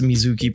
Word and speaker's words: MZK: MZK is also pronounced Mizuki, but for record, good to know.